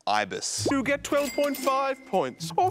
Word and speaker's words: Ibis: What if you use the Accor loyalty program to stay at the Abyss Hotel? I think that's pronounced Ibis.